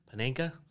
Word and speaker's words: Panenka: Panenka? Panenka.